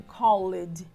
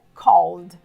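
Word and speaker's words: called: que terminam com ed a letra e silenciosa a gente não pronuncia então não seria correto dizer assim collide cole OK tá errado correto é cole isso acontece com como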